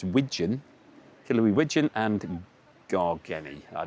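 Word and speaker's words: wigeon: That says wijon. It's not pigeon that I'm mispronouncing. It's wijon.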